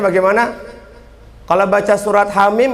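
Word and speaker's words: حم: Bacanya Hamim apa Hama? Hamim.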